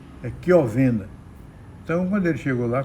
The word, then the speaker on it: Chiovenda: Então, nesse caso aqui desse concurso, um dos examinandos, o CH em italiano, se pronuncia também com o som de Q, Chiovenda.